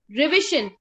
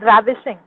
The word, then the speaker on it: ravishing: Ma'am, actually it's pronounced as ravishing.